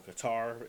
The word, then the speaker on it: Qatar: the origins of Arabic people and people around cutter or qar as some will pronounce it but we we're going to get